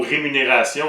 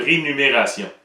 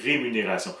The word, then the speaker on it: rémunération: facile comme par exemple le mot rémunération on va souvent entendre rénumération le M et le N vont être interchangés ça c'est pas qu'on qu'on se demande comment se prononce le mot c'est juste que les gens souvent se trompe dans le fond il invente un mot qui n'existe pas le mot rénumération n'existe pas c'est rémunération un autre mot euh